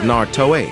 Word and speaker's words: Naruto: three great dojutsus of Naruto. It's Naruto. It's Naruto, not Naruto or Naruto. It's just Naruto. The original anime tells you how it's pronounced.